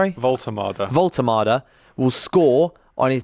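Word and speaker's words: Woltemade: So So he will get his debut Walter's or how do you pronounce it again? Sorry. Voltermada.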